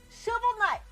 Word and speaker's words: Shovel Knight: Shovel Night. Look, it's Shovel Night. Shovel Knight's like knight in shining armor.